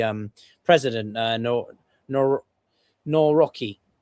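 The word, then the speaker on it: Nawrocki: president uh no no No Rocky. I know that's not the best pronunciation, but given that he's a bit more of a nationalist and right of center, Trump likes him, obviously.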